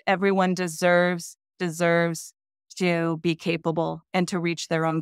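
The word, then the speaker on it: Capeable: comom which is our website and again it's spelled capable c a p e abl e but we do pronounce it capable and then we've got Facebook and Instagram which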